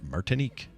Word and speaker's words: Martinique: barbados area or martinique martinique i think is how you say it yeah you said it perfectly if you find this